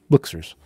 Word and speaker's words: BLKSRS: It stands for Black Series, but it's pronounced Blixers.